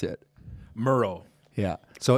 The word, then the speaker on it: Mierau: pronounce your last name uh Miro Miro rhymes with hero Reggie how did you pronounce it Merle yeah so it's not